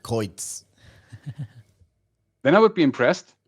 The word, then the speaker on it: Qreuz: original so english native speakers how they would pronounce his name yeah and actually everybody everybody said cruz yeah and this for me was then okay